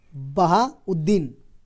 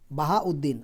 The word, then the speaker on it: बहाउद्दीन: ठीक है, क्या बोलेंगे? बहाउद्दीन, ये सही उच्चारण हुआ, बहाउद्दीन।